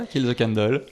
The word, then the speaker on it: Kill the Candle: et Pierrick, tous les deux membres du groupe Kill the Candle. Bonjour. Bonjour Virginie. Bonjour Virginie. Je l'ai bien prononcé ? Oui, c'est ça, Kill the Candle.